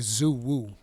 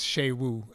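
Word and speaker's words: Xu Wu: was going to be Zoo wo I thought the X was read like a z yeah know it's sh Wu so whenever they say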